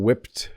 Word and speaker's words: whipped: it like I like whipped cream on my pie I'm supposed to be saying whipped cream you hear the Ed whipped cream but when